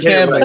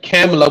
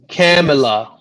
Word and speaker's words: Kamala: It's Kamala. He's reading off of the script. No. So literally, she said Kamala with a camel. Kamala. Say it correctly, okay?